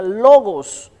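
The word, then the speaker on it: λόγος: y una palabra que se pronuncia logos que significa expresión de pensamiento logos como si fueran varios lobos Qué significa expresión de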